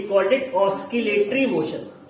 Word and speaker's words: oscillatory: We called it ऑस्किलेटरी motion. Spelling सब लोग इसका याद रख लेंगे। ऑसिलेटरी भी बहुत से लोग बोलते हैं, बहुत से लोग ऑस्किलेटरी भी बोलते हैं।